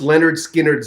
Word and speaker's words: Lynyrd Skynyrd: was a year um it's pronounced Leonard Skinner's the name of the